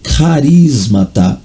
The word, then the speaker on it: charismata: Está escrito charismata, né? C-H-R-I-S-M-A-T-A, charismata. Mas a pronúncia é carismata.